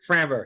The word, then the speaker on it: Framber: Framber, yeah.